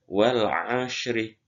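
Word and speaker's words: والعصر: Wal ashri. Wal ashri. Itu kita lancarkan terlebih dahulu meskipun kita sudah hafal wal asri, ya.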